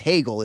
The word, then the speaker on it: Hegel: Hegel in D's pants, which is just like Hegel sounds like because I didn't know that's how you pronounce it. And then when I learned like it's Hegel is the pronunciation, I was like, that